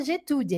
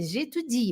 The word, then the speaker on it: j'étudie: Cara, atenção, não fala j'étudie, é j'étudie. Eu queria dizer para vocês que atenção com esse i aqui, que ele é forte.